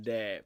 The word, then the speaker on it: đẹp: Then Deb, because there's a dot.